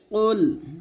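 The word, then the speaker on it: قُلْ: পেশ হু কুলহু আল্লাহু এখানে দেখুন আমরা যে ফুলটা করি কফের জায়গায় আমরা কাফ পড়ি মানে কুল বলি তো শুধু কুল বলা যাবে না এটা কুল বলতে হবে কুল মোটা করে বলতে হবে কুল হু ওয়াল বলতে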